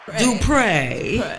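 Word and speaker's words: Dupré: Did we say your name right, Dupre, yeah, we got to put that accent on the E. Dupre.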